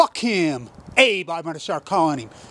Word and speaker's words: Abe: I like I say it's pronounced a bay Abby Abby him Abe I'm gonna start calling